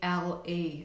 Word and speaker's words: Frankl: It's Viktor Frankl, and I think it's Viktor is spelled Viktor, I believe, and it's Frankle, I think.